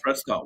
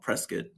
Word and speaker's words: Prescott: We have a Prescott, Washington, but we don't call it Prescott. It's Prescott.